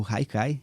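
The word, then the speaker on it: haicai: O Hikai é pronúncia assim.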